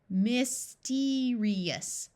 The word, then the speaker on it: mysterious: the short I sound an i before an a o or U usually has a long e sound mysterious mysterious in the next